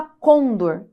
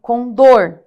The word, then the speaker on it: condor: olha só são oxítonas a gente não fala Condor é com dor tá então Aqui nós